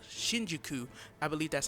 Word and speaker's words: Shinjuku: Yozora, and Riku are in a town called Shinjuku.